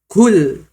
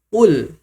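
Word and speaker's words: قُل: Qul qul. Coba perhatikan bedanya. Yang pertama kul. Yang kedua, qul qul.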